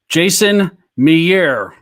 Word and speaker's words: Jason Mejeur: Jason Mejeur.